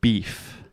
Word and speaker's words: beef: in Portuguese, the word beef. Mm-hmm. How do you say this in Portuguese? Beef. Yes. So there is no E at the end of this word.